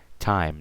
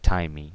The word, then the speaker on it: time: II at the end all those silent eyes so write five you see there's I don't say five e I say five time not timing so time night right